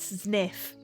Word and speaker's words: Zniw: and stuff unknown undiscovered dinosaur sniff is that how you pronounce it hang on if we go to oh my God it's pronounced sniff Das pleatosaurus I'm so